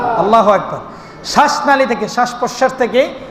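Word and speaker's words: الله: কিছুক্ষণ সেখানে সময় নিচ্ছে আল্লাহ নাকি আলা আলা বলে উচ্চারণ হবে ধরলাম ছেড়ে দিলাম আলা তাড়াতাড়ি বললাম উচ্চারণ হয়েছে বলতে হবে আল্লাহ যখন বললাম একটু সেকেন্ড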